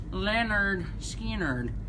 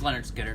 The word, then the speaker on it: Lynyrd Skynyrd: I missing anything it's Leonard Skinner pronounced Lynyrd Skynyrd it sounded like you're